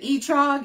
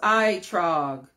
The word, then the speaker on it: etrog: I said etrog. It's pronounced itrog.